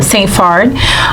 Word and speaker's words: Saint-Phard: Um my name is uh St. Farard. Um if you were to say it in Haitian Cre. So that's how you pronounce it in Haitian Creole.